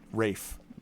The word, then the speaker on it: Ralph: williams the composer actually spelled his first name ralph but it's pronounced rafe uh vaughn williams yeah